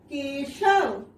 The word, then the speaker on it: के: और जब यह व्यंजन क में आकर जुड़ गई तो उसे हमने इस तरह से लिखा और उसका उच्चारण हुआ के।